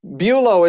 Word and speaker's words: Bulow: Did Did I Bulo is how you pronounce that?